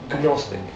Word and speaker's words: gnostic: Agnostic? Gnostic. Agnostic? The G is silent. Keep the distance, right?